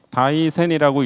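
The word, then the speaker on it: 大仙: 인덕천황릉을 다이센 부분이라고 부르거든요 한자로는 대산이라고 하는데요 산처럼 크기 때문에 대산인데 또 신선선자를 써서 대선으로 이렇게 씁니다 굳이 다이센이라고 읽습니다 일본어로 여기에는 또 신선 사상을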